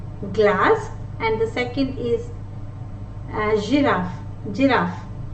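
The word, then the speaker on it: girafe: So in this case, letter G is pronounced as J. Orange, orange. Giraffe, giraffe, as opposed to a hard G, that is garden. In English we say garden, right? Grass, here it is J, J, orange, giraffe.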